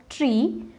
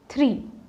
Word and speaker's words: three: number three some people pronounce it as tree or maybe three which is absolutely incorrect you have to focus on the th sound so this becomes three let me give you